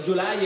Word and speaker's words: Gyulay: O meglio, Gyulay è il modo in cui lo pronunciano gli italiani, in ungherese non pretenderete che lo pronunci in ungherese, ma comunque gli italiani lo chiamano Gyulay e tutti lo conoscono